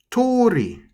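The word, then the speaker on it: 通り: There's an apostrophe here right on top of the O for number 5. And this word means street. And the way you pronounce this word is actually the same. Tori.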